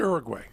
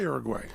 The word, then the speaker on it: Uruguay: He moved to Uruguay.